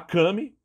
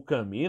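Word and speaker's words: Cammy: de uma polêmica envolvendo a Kame ou cami né dependendo da da pronúncia a gente falou da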